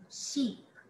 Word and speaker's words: sheep: Ship. Ship. Sheep. Percebe como abre? Sheep.